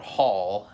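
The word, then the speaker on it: Haal: And they've now joined a band called Hall, and it's spelled H-A-A-L.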